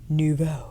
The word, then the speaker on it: Nouveau: I feel Paradise Glow is a great pairing with Nouveau.